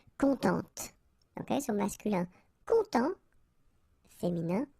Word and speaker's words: contente: Of course, if you put the feminine form, then you will have to add this and then phonetically it will be a bit different. It will be contente.